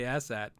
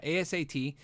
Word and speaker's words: ASAT: Somebody said they hate it when I say ASAT. I say it like ass hat.